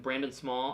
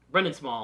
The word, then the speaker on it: Brendan Small: And I believe it's Lauren Burkhardt and Brandon Small. I don't think I pronounced his name right. From Brendan Small.